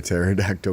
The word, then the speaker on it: pterodactyl: telling you hear a pterodactyl go to the bathroom because the P is silent oh and with that